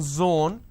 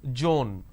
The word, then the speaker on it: zone: as well for example it's zone instead of saying zone they pronounce this as joan these are the mispronunciation